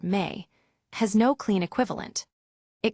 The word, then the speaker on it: me: That word, a Sumerian noun pronounced roughly like the English word me, has no clean equivalent.